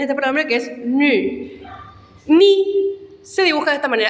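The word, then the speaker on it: ν: Tiene el mismo problema fonético que mi. Se pronuncia con Y. Ni.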